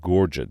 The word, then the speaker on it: Gorget: Gorget, that's what it's pronounced.